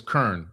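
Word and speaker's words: Qurn: I think it's Kurn. L Q U R N. Kurn. El Kurn. That's what That's how you say it.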